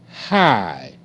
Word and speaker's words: high: and left right hi h i high high GH is silent okay you see the